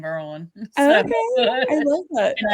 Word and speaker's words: Maryland: that was what bre oh all right Merlin you gotta say it right okay because I'm from DC in Merlin okay I love it